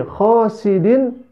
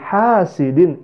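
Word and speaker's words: حاسد: Dia membacanya Wamin syarri khosidin izzard padahal yang betul adalah wamil serviks hasidin idza hasad jadi memakai ha bukan memakai hot sahabat dalam bahasa Arab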